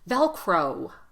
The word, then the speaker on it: Velcro: just to say oh it's not enough to say velcro velcro velcro you see my lips they have to release velcro Velcro velcro and I'm